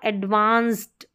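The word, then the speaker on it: advanced: यहां पर जो है सी का साउंड एडवांस्ड एडवांस्ड ट ही आ रहा है सी के बाद में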